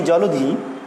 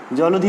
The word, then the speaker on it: জলধি: আবার যদি দেখি জলধি, জলধি উচ্চারণটা যদি দেখি একইভাবে জ লো ধি, তাহলে মাঝখানের যে অ রয়েছে সেই অয়ের উচ্চারণ হচ্ছে কিসের মতো? সেই অয়ের উচ্চারণ হচ্ছে ও এর মতো।